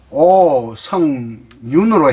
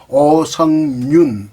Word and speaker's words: 오석륜: 그래서 오성윤 이렇게 발음을 하고 표기는 석륜 이렇게 합니다.